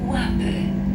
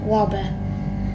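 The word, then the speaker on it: Łapy: Station Łaby. Łaby. So now approaching Łaby station, which is spelled W-A-L-P-Y. You may be thinking, it's not called Łaby, but it's the secret. It actually kind of is.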